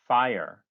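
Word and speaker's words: FHIR: global health data interoperability fast healthcare interoperability resources pronounced fire is an hl7 standard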